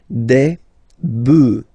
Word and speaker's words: bœufs: just add this S, but then pronunciation changes quite much, because you get des bœufs, all right? Un bœuf, des bœufs, all right?